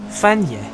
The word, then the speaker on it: Fagnes: Fanya, yes, in French, yeah. Yeah, Fanya is how we would pronounce that then. Well, that seems right to me. At least that's how we pronounce it, because we know it's not English. If it was an English word, we'll probably pronounce it Fagnis.